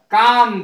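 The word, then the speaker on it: calm: सी ए एल एम एल नहीं बोला जाएगा काम बोला जाएगा इसको शांत जिसका अर्थ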